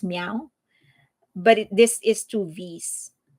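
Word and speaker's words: MEOVV: And that is how they pronounce it in their songs. It's meow, but this is two V's.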